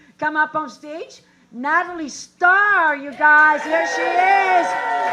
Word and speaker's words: Starr: hippie also like y'all so it's star with two r's so it's actually pronounced natalie star and for those of you i don't know there's some white people in this crowd who cannot roll your tongues i will accept natalie starr which brings me to